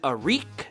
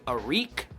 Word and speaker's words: Arik: Now, first thing I want to point out is I'm not sure if it's actually pronounced Eric. I've heard his mother say Arik, and you guys know moms are always right. So I'm going to say Arik for right now because that just sounds cooler.